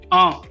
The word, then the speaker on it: un: Un. All right. The pronunciation is un.